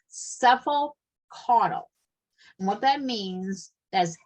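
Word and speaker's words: cephalocaudal: NCLEX likes this kind of term is called cephal cuddle and what that means as head to toe and I'm going to spell it for you are you writing down C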